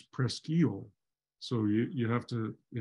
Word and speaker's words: Presque Isle: on it but um is Presque Isle in Pennsylvania which does have a lighthouse but in Michigan it's prestile so you have to